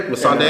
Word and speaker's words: Missandei: one of the favorite couples in there is Missandei. I think that's how you say her name, right? Yep, Missandei and Grey Worm.